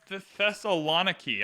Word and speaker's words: Thessaloniki: It's pronounced Thessaloniki.